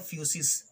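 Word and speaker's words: φύσις: है से बना है, जिसका उच्चारण जो होता है फ्यूसिस, यानी आप कह सकते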